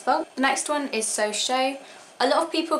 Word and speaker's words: So Chaud: the next one is so show a lot of people call this one so chord because of how it's spelt but it is french so technically it's pronounced so show i still call it